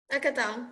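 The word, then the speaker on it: Hackatao: So the first cover of the NFT magazine I'll share here is was Hackatow. Is that how you say it? Hackatow? Akatao, yes.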